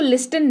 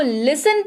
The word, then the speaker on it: listen: इसकी स्पेलिंग होती है LISTEN, लेकिन इसको लिस्टन नहीं पढ़ते हैं, ठीक है, आप भी मत पढ़िएगा, लिस्टन नहीं, इसको लिसन पढ़ते हैं, T यहां पर होते हैं भाई साहब साइलेंट, राइट।